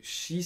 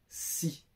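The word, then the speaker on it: し: Donc vous avez vu, le shi, c'est pas si. Il n'y a pas S-I, c'est S-H-I, si on le prononce phonétiquement, tu vois.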